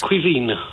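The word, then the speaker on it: Caoimhín: as that absolutely so you pronounce c a o i m h i n as Quine as Kevin Quine and it's it translates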